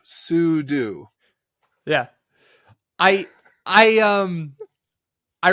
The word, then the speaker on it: sudo: I pronounce it but it's super user do sudo yeah I I um